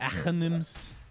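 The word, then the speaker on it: Aghanim's: Achanim's. Yes. That's the. I'm half Persian, so that's kind of the Arab way to say it.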